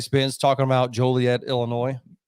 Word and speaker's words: Joliet: So I actually got a list here of the trucks actually won at Joliet or Joliet. How do you pronounce it? Joliet.